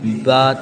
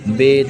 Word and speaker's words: ب: تلفظ سے پرہیز کریں، یعنی بے تے سے جیم ہے خے توئے زوئے وغیرہ ہرگز نہ پڑھیں، بلکہ با تا سا ح خ تو زو پڑھیں۔ جیسے کہ ابھی میں